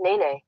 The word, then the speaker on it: Nene: do you pronounce n E and E that's pronounced Nene yeah Nene because our sense Oh Nene I